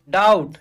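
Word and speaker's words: doubt: है सौदा next run डाउट दी ओ यू बी टी यहां पे बी साइलेंट होगा और हमें क्या परिणाम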